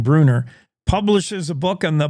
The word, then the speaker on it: Brunner: Beyond the Wreckage, Brunner, I think she pronounces her last name Bruner, publishes a book on the Bomber Mountain crash.